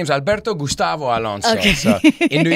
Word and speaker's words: Alberto: LOL should it be Albert actually my name is Alberto Gustavo Alonso so in New York my friends call me Gustavo because they can't pronounce the r they say Alberto the you know Albert Albert yeah but it's